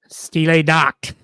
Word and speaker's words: Stille Nacht: Winter Wonderland versus, how do you pronounce that, Aric? Stille Nacht.